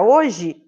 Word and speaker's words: hoje: pensar na palavra hoje quando eu pronuncio a palavra hoje o h tem som e não tem né o h não tem som isso quer dizer que